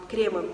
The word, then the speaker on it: кремы: Я за время ведения канала научилась говорить шарфы. Совершенно точно правильно ставлю так ударение. Кремы, наверное, все-таки будет правильно, кремы.